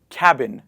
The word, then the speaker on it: cabin: You have a cab. Cab means a taxi. That's how we pronounce it. And we write cabin. We write cabin. We say cabin, not cabin.